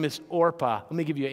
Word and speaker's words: Orpah: father of Oprah Winfrey named their daughter after this woman, but mispronounced it. And in the process of mispronouncing it, the person who filled out her birth certificate wrote it the way they heard it. And so instead of being Orpah, she became Oprah.